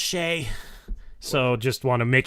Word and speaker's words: Shai: So Shai Gilgeous. Wait. Jordan's in here saying, you're saying his name wrong. It's pronounced Shay.